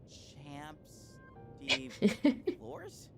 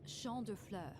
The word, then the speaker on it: champ de fleurs: Champs de floors? How do you say that? He pronounces French words the way I pronounce Japanese words. It's champ de fleurs. It means field of flowers.